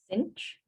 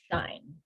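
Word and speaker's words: sinh: s i n h cinch okay other people pronounce s-i-n-h as shine okay so some people call it cinch some people call it shine i know that neither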